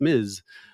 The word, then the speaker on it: Ms.: How do you pronounce this thing? And people say, well, it's Ms.